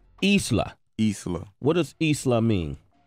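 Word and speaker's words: Islah: that's off the new project right yeah it's pronounced isla Isla what does Isla mean it means to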